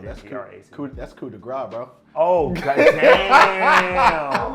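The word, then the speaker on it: coup de grâce: called Copa de Grace. Copa de Grace. I think that's how you say it. So COUP and then DE Oh, and that's then coup, GRAC. that's coup de grace, bro.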